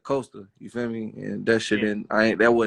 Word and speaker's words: Coasta: name they'd say something they'd call me cost instead of coaster you sent me and